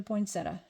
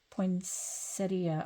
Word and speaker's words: poinsettia: It's part of the poinsetta or poinsettia, I think, is how some people pronounce it.